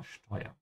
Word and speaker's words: steuern: Steuern, again here we have a word with an SD, so remember to pronounce it like sh, ja, steuern.